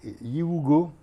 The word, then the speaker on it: Yiwugo: Bee R'n'B d'accord et Yugo comme ça se prononce c'est une application comme